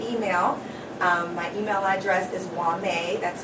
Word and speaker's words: Whamae: me uh via email my email address is wame that's spelled w-h-a-m-a-e my last name which is boy